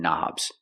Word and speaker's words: knob: turn knobs we see the word knob has a k and the K is silent don't pronounce the k start with the n Sound knob one knob two